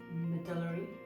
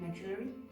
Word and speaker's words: medullary: You've got Hürthle cell, and then you've got medullary, that's how you say it, medullary, and then anaplastic.